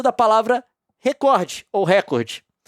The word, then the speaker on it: recorde: oriente seus profissionais a pronunciar a palavra recorde como paroxítona, ou seja, recorde, com força na sílaba cor, recorde e pague indenização por danos morais coletivos.